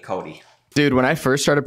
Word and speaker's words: Cody: yeah send it back how come there's an X in your name um Cody would have sounded dumb we are pronouncing it Cody dude when I first